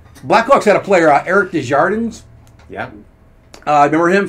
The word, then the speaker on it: Desjardins: Someone asked him once, like, you know, how do you pronounce your last name? Is it Desjardins or is it Desjardins? He pronounced it Desjardins. He said, because if I pronounced it Desjardins, people would think I speak French.